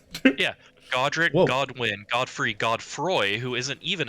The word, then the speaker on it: Godwin: His name's it's not Godfrey, it's Godwin. Godwin, yeah, the guy with the sad eyes that are everywhere. Stupid Oh, I didn't Elden know. Ring names. Yeah, Godric, Whoa. Godwin, Godfrey, Godfroy, who isn't